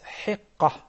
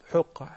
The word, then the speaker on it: hiqqah: Then the right pronunciation of the third one is hiqqah, not huqqah.